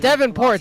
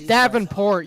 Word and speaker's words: Davenport: It's not Devonport. It's Davenport, you Okay, fine.